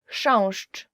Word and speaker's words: chrząszcz: So the first word is, and I promise you this is the most difficult word you will ever learn in Polish, as for the pronunciation, is chrząszcz. I will just say it again.